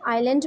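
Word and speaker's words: island: यहाँ पे S silent है आइलैंड में, और ZHE ये य की तरह साउंड करता है.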